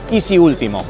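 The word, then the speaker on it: EZ-ULTIMO: renault ez último que en realidad se pronuncia y si último un vehículo robotizado autónomo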